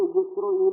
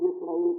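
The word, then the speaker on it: ישראל: مطلب یہ تھا کہ یسروئیل بھی پڑھا جاتا ہے عبرانی میں، اس لیے جنہوں نے عربی میں یسرائیل کہا وہ بھی ٹھیک ہی کہا ہوگا۔ ایک تلفظ، کیونکہ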